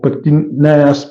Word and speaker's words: pectineus: This is, I don't know how to pronounce this, but it sounds like pectinitis muscle or pectineus muscle, something like that. Forgive the mispronunciation, but it's PECTINEUS muscle.